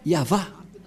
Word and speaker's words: Yahvah: avons déjà la traduction abituava ad KBI ya yava voilà il est déjà regroupé le nom y yava qui est très clair donc le nom du père yava c'est bien yava et ils sont bien ensble en ce moment